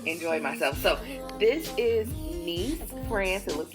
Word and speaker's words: Nice: Italian but I enjoyed myself so this is nce France it looks like nice but it's pronounced nce and so in order for us to get